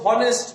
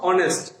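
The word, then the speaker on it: honest: এখানে কিন্তু হনেস্ট না, এটার উচ্চারণ হলো অনেস্ট। সাধারণত এইচ এর উচ্চারণ বাংলায় হ এর মতো উচ্চারিত হয়, কিন্তু এখানে হনেস্ট হয়নি, হয়েছে কি অনেস্ট।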